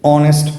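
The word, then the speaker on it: honest: এই যে বাংলা পাঁচটি বর্ণের উচ্চারণ এর মত হয় নাই। আবার অনেস্ট এর শুরুতে আমরা এইচ বর্ণটি হচ্ছে কনসোনেন্ট হওয়া সত্ত্বেও আমরা এন এর ইউজ করেছি।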